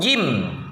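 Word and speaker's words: ج: Jim cara pengucapannya yang pertama tempelkan rapat-rapat lidah bagian tengah pada langit-langit keras. Lidah bagian tengah tempelkan ke langit-langit. Gitu ya. Dan yang kedua, hentikan nafas dan suara pada makhrajnya jahar dan syiddah. Jahar, syiddah ditekan nah ini tekan gitu pengucapan huruf ja ya.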